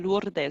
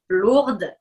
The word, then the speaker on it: Lourdes: de petite fille s'appelle lurdes ou en amérique du sud est peut-être ailleurs mais est ce que tu es d'accord avec moi que en français quand on le prononce à la française lourdes c'est un très loin